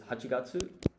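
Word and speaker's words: 八月: And you would pronounce this Junigatsu. So let's put December. This is Hachigatsu.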